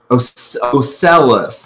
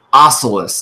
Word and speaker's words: Ocellus: It was Ocellus, not Ocellus. I pronounced her name Ocellus a lot at first, like, oh, it's like an ocelot. No, it's Ocellus.